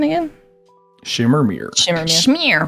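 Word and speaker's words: Myr: Shmear, right, yes. Shmear. I always pronounced it Schmeier.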